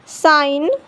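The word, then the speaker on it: sign: जब जी के बाद एन आता है तो जी साइलेंट होता है। जैसे यहाँ देखिए जी के बाद एन आया है तो जी साइलेंट होगा। Foreign, now, नेट, साइन, अलाइन, रिज़ाइन।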